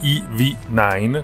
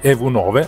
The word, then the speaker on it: EV9: il grande SUV ev9 probabilmente si dovrebbe pronunciare i9 comunque ev9 all'italiana chi arriva con questa